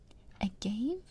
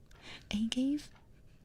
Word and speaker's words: agave: Wait, that's how you say it? Okay. Agave? Agave? Agave. I feel like such an idiot. I thought it was agave.